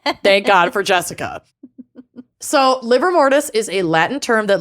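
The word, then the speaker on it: livor mortis: deal with it is liver mortis levor Liv or mortis but it is just pronounced liver I know Lucy's talked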